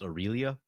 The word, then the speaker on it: Aurelia: comments that that is why you know where Railly is actually pronounced Aurelia really yeah I'm not changing at this point